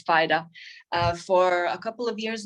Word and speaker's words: Fida: I was always pronouncing it Fida, but it's Fida, for a couple of years now.